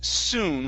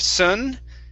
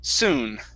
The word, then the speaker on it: soon: nice okay uh here this word is pronounced soon with an u sound instead of sun soon okay good here we have